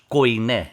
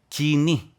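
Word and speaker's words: κοινή: Aqui mais pronunciamos koiné. Koiné. Né? Koiné. É a língua grega, dialeto é koiné. E a pronúncia em grego é kini.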